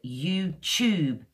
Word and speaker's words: YouTube: Now, the way I would say it is tune, ooh, tune, or studio, studio, and YouTube, is a ch sound, YouTube.